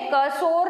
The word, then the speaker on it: cursor: ऑन the monitor is known as कर्सर। उसको क्या बोलते हैं हम? कर्सर, ठीक है। What is the spelling of कर्सर? CURSOR, ठीक है, कर्सोर नहीं होगा, कर्सर बोलते हैं उसको, ठीक है।